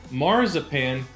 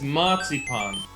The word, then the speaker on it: Marzipan: In Germany, it's not marzipan, it's matzipon.